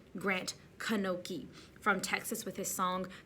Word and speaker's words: Grant Knoche: beautiful next up was grant kanoki i've been saying his name wrong all season grant kanoki from texas with his